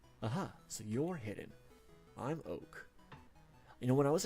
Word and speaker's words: Oak: I'm Oak. You know, when I was a kid, I thought his name was Okay. Like, I didn't realize you pronounced it like oak, like the oak tree.